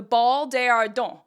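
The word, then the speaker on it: Bal des Ardents: going to learn about the history of the ball deardon known in English as the ball of the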